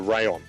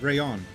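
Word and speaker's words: Raion: Yeah, so it was the Raiju and the Rayon. Raiju, Rayon. Okay. Yeah. The Raiju and the Rayon. So the Raiju is your standard Pro type controller, and the Rayon is a fight pack.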